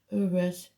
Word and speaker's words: Uruz: Uruz. I don't know which. It's like an N really, but it's Uruz. It's this. The pronunciation is U or double O.